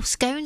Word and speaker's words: scone: Well, scone, scone. We had this debate earlier on at our afternoon tea. Depends on whereabouts you come from. It does. Apparently, you're in the cone, rhymes with cone team, which means you are